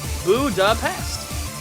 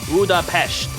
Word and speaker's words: Budapest: Budapest with a hard s sound. While ah here we go. While the original Hungarian pronunciation is budapesh with an sh sound, the English convention retains the s.